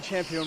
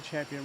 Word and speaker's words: Campuhan: Well, it's been a nice walk to Champion Ridge, and that's ch with a CH. The C in Indonesia is pronounced with a ch.